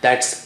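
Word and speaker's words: ث: Let's see how do you do that.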